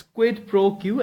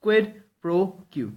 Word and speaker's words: quid pro quo: It's quid pro quo, and it's a noun, and the pronunciation is it's quid. Okay, then pro, it's quid pro, and quo, it's quid pro quo.